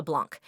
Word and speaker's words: Blanc: and sometimes Blanc and you noticed I am changing how I pronounce it this is intentional because he actually changed his original name from blank to Blanc why did he change